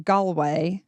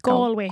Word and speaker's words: Galway: live from Galway. Is that Is that how you say it? Galway. Galway.